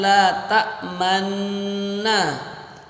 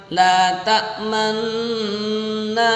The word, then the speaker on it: لا تأمنا: Jangan sampai dibaca gunnah, ya. Kalau gunnah kan cuman la ta'manna ala Yusuf, itu cuman dengung saja. Yang ini ada ismamnya, mencucu di tengah-tengah, ya.